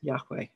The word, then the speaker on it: Yahweh: the sacred name revealed to Moses, which we pronounce Yahweh.